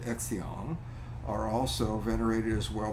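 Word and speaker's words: Xian: considered to have become Immortals and they're called exion are also venerated as well by both clergy and lay people Axion is spelled x-i-a-n they're the Immortals so despite these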